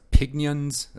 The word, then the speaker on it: Pignons: by a company called, I believe it's pronounced Pignons. It's kind of an odd spelling and an odd name.